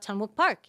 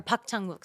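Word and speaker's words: Park Chan-wook: I was like or Park Ton Wook, sorry. Um I'm going to If I'm going to do it in Korean, I'm going to say it right.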